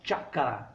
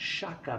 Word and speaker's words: chakra: rosa ea lembrar que a pronúncia correta seria xhaka e não de shakhtar há muitas pessoas na